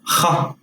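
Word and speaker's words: خ: This letter is kha. It's pronounced further back from the throat. Kha, similar to the jota in Spanish, if you are familiar with Spanish.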